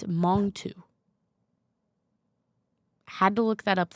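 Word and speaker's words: Mangetout: So, you know this song wet leg that appears to be pronounced mange tout. It's it's it's Mongu.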